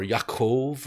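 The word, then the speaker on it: יעקב: Israel uh Jacob or yaakov right that's how you pronounce it in Hebrew and then Joseph in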